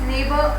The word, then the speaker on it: neighbor: The second word is neighbor, again GH is silent.